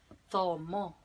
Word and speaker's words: zomo: Recuerdan que le había dicho que esta se pronunciaba entre dientes, con la lengua entre los dientes. Entonces es tomo.